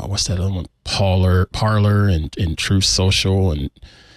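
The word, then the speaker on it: Parler: weaponized exactly exactly yes is it parlor or is it parlay I'm sorry it's ER I don't know if it's necessarily French like you can't imagine those folks using pronunciation well it's it's parlay is to speak so much yeah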